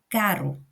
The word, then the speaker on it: caro: Enquanto daqui é o som de r, r, caro, caro.